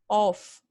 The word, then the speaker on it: off: your mouth of them the other one is off so you have to do these open o